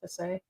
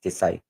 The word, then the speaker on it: Tisay: Tesay. No, I'm just the proper pronunciation is Tisay.